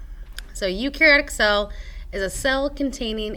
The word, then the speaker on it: eukaryotic: is eukaryotic cell so even though it starts with an E you ignore the E and it's pronounced eukaryotic so eukariotic cell is a cell